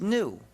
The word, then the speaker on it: gnu: countless word plays because according to the dictionary the g is silent according to the dictionary it's pronounced new so every time you